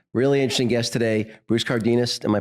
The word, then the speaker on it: Cardenas: Really interesting guest today, Bruce Cardenas. Am I pronouncing that right? Yeah, Bruce Cardenas, yeah.